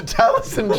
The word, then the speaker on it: Taliesin: Taliesin, although that is actually like the Taliesin. Welsh pronunciation. Taliesin.